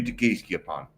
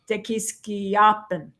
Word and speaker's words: Tequisquiapan: This city is probably, Ajijic is probably similar in size to Tequisquiapan. We're not saying it right. Whatever. We just learned that it's Tequisquiapan.